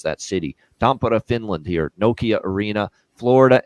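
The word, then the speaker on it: Tampere: to preview it now Florida Dallas uh in tampara Finland is how you pronounce that by the way Nokia arena there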